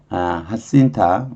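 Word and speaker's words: Jacinta: Then 하신타 이게 스페닉이니까 스페인어일 거예요. 스페인어는 J를 H로 발음해요. 그러니까 J니까 H로 발음을 해서 하신타.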